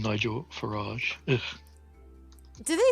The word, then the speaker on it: Farage: Garage rhymes with farage. Farage rhymes with garage. What's farage? Farage. As in Nigel Farage, the fascist.